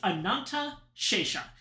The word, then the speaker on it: Ananta Shesha: It's Ananta Shesha. It's probably a little bit easier to figure out if you spell it the original way, which is that.